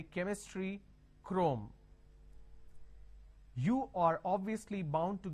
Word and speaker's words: Chrome: now here this is c h r o m e can I say Chrome like Google Chrome no the pronunciation is Google Chrome so when you have